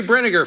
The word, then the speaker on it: Brinegar: Barry Brinegar, folks. It rhymes with vinegar.